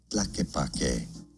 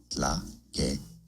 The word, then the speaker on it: Tlaquepaque: So, 2 different ways of pronouncing it. Now in Spanish, this is said as tlaquepaque, tlaquepaque.